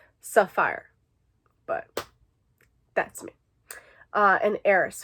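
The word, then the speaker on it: Safire: Saphir eye color sapphire it's spelled SAF ir e so sapphire but that's me an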